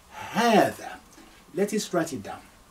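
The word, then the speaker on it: هذا: That's why in the transliteration, I will double A to say ha, haadhaa.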